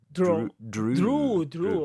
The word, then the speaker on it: drew: of the verb empire drew of course because of the past that's it think of the name like andrew drew true you think about andrew